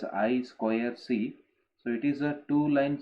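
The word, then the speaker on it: I²C: serial interface like I2C, pronounced as I square C.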